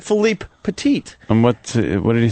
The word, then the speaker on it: Philippe Petit: Most people say Philip Petit, so I purposely was trying to say his name right. So I said Philippe Petit.